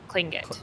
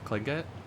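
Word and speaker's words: Tlingit: I'm pretty sure it's like it makes the TL makes a K sound, so it's Klingit. Klingit?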